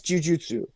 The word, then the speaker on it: jujutsu: So the the way that that's spelled is the correct way to pronounce jiu-jitsu. Okay. Okay. because it is jujutsu because jiujitsu doesn't actually mean anything and then you put